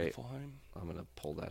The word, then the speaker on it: Niflheim: Can you pronounce that word? I think it's Niflheim. Niflheim. I think you're right. Niflheim?